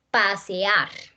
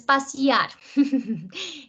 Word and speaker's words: pasear: es que abren aquí, se abren en dos sílabas. ¿Listo? Pasear. No es pasear, es pasear.